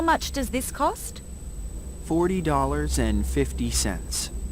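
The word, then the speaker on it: forty: Yes, you say for 10, 40. For 10, 40. تو for 10 صداتون و استرس کلمه آخر کلمه است. For 10. ولی تو 40 اول کلمه رو قوی میگید 40.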